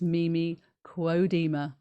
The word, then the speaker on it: Mimi Kuo-Deemer: You're here on Chi Time with me, Clara Apollo, on UK Health Radio, and my guest is Mimi Kuo-Deemer. Yes, I'm pronouncing her name correctly now.